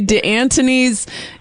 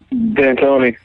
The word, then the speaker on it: D'Antoni: I want to say DeAntoni's, how do you say it? D'Antoni or DeAntoni? D'Antoni. D'Antoni. Yeah.